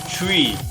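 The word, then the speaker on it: Tri: Tree. Yeah, they're asking us to say it as tree, I guess.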